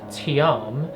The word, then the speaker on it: TIAM: fun facts about tian with you so tm pronounced tiam actually comes from a persian word that means